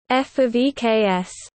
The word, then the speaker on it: ƒ(x): For example, when using English, the expression fx is conventionally pronounced f of eks, where the insertion of the preposition of is not suggested by the notation per se.